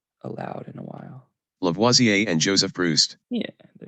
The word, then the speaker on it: Lavoisier: in print but not allowed in a while lavoisier and joseph bruce yeah lavoisier a french chemist lavoisier antoine lavoisier and joseph proust so lavoisier he was a french chemist he had proposed